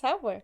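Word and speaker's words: Sauber: is none other than saber Saba what that am I saying it right Saba Saba s a u b e oh saber yes yes sber beautiful only fifth time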